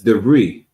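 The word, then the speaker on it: de Vries: DeVries, is that how I pronounce it? Khan. You don't pronounce the S, the Khan. You said I don't pronounce the what? The S, DeVries. Oh, DeVries.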